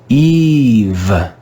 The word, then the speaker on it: eve: read this word together remember the last e is silent eve eve eve when